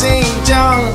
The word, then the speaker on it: Xinjiang: Please say my name, it is pronounced Xinjiang.